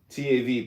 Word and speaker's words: Tav: TAV pronounced Tav transcribed as TH the number 400 meaning mark across the administrative intelligence is the final letter of the Hebrew alphabet.